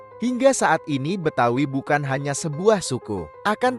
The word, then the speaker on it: Betawi: Berasal dari kata Batavia, yang lama-kelamaan berubah menjadi Batavi, kemudian berubah menjadi Betawi. Pengucapan Betawi sendiri disesuaikan dengan lidah masyarakat lokal yang kesulitan mengucapkan kata Batavi.